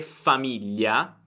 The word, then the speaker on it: famiglia: Quindi se la parola è famiglia, e non riesci a pronunciare GL, prova a dire famiglia, famiglia, piuttosto che famiglia, famiglia.